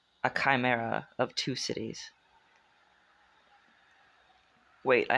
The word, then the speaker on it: chimera: Is it Chimera or Chimra? Kim. Chimera. Let's look it up again. I will look it up as many times as it takes to learn how to say this word. Chimera. Chimera. I was wrong on both guesses.